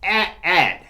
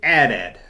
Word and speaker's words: AT-AT: Initialism is an anagram that is pronounced as individual letters, such as DNA. Damn right, Larry, damn right. It's AT-AT. You say AT-AT.